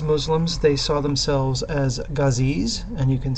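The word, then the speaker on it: ghazis: Islam and as Muslims they saw themselves as gazees and you can spell that g-h-a-z-i-s the guzzies see themselves as Warriors for Islam and they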